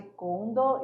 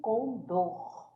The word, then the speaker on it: condor: Lembrando da professora Márcia, puxando muito bem o R, né? E aí, nada de condor e sim condor, beleza?